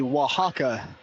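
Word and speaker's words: Oaxaca: to Mexico which mission is it Ty the Waka w spell o a x a c a you pronounced it well have you been studying some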